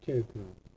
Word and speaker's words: CHAR: CHAR 이거를 차라고 읽으면 안 돼요. 무식한 거예요, 그거. 이거를 차 이렇게 읽으면 아주 무식한 거니까 여러분 절대 그렇게 읽으면 안 돼요. 뭐라고 있냐? 얘는 캐릭터라고 있습니다. 캐릭터. 그래서 문자형은 캐릭터를 쓰자는 거예요.